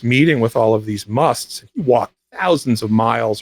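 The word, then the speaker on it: mast: according to Meher Baba, musts. Which is spelled M-A-S-T, and they are, basically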